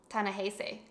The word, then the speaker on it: Ta-Nehisi: Ta-Nehisi. That's how you say it.